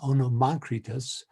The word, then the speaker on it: Onomacritus: you, Anne Veronica, for teaching me how to pronounce that, Onomacritus.